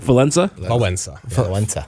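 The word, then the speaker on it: Wałęsa: to like like once everyone say it like valenza no well there's actually a letter in there that doesn't existence when did he run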